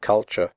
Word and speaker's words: culture: However, you should pronounce the word culture correctly. The first U is pronounced like the U in but, and the last syllable is pronounced ch.